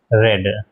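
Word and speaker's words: read: टू उसके बाद साथ में बी और फिर मेन वर्ब की थर्ड फॉर्म यानी रेड। स्पेलिंग सेम होती है लेकिन प्रोनंसिएशन बदल जाता है।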